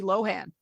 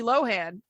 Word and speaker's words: Lohan: Everybody has always said Lindsay Lohan. And she was like, well, it's actually Lindsay Lohan. So there you go. That's how that's pronounced. Well, thank you, Lindsay. I didn't know that. I would have assumed it was Lohan.